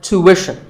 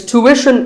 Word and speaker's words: tuition: like the word tuition it's tuition in american english and tuition in british english so what's the hidden sound here well the first syllable is easy two american or two british but after that it's not ishan tuition you have to put the what sound there so tuition